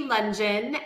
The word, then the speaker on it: Lungeon: So I'm Lungeon, and Lungeon rhymes with absolutely nothing except dungeon, which, as a former